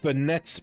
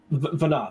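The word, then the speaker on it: Venat: So it's kind of like Vana the T is silent.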